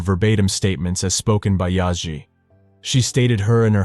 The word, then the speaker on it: Yaji: The woman, Yaji, pronounced Yaji, stated she was Hassan's wife.